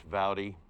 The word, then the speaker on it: Vowdy: Sir, just the pronunciation of Anthony, it's Vowdy. Vowdy.